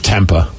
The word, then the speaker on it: tempeh: Yeah, for me it's tempeh. Right, yeah, the proper way. Tempeh. I'm never going to pronounce it right because it doesn't deserve to be pronounced right.